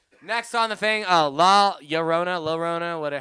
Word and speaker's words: La Llorona: in uh you pre it's the ll pronounces like the y sound kind of a little bit okay anyways that as